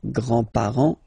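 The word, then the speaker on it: grands-parents: with the the grandparents remember you don't pronounce this final s here grandar okay so grand grandfather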